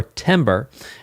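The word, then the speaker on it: timbre: And that's because of something called timber or timber. It's spelled t i m b r e.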